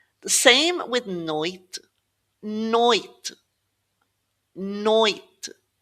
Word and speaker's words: noite: So you're never really going to say ondi and noiti, and it's not onde either. Ond, noite.